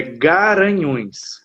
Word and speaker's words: Garanhuns: É Guaranhuns. Isso. Guaranhuns. Lá no Pernambuco é Garanhuns. Garanhuns. Aqui é Guaranhuns.